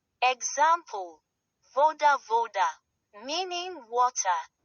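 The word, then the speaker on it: вода: This looks like a capital B but is pronounced like the English V as in very. Example, voda voda meaning water.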